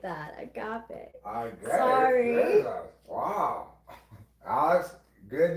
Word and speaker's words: agape: To have the mouth agape, it is the same. To be awestruck by something breathtaking, delight, We are made humble once again. So agape and agape actually are spelled the same.